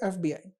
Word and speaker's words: FBI: जैसे एग्जांपल के तौर पे FBI, राइट। तो FBI इसको हम कैसे प्रोनाउंस करेंगे?